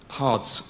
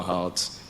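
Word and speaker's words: Hardres: of upper and lower hearts in kent i'm learning to pronounce them with an h um because the early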